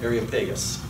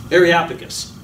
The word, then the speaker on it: Areopagus: Then they took him and brought him to the meeting of the Areopagus. That's not right. I'm not saying it right. Areopagus.